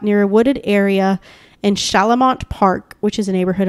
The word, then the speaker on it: Chalamont: i mean look it's c-h-a-l-a-m-o-n-t i think that's right yeah shalamont that sounds right or chalamont i don't think it's that okay we're going to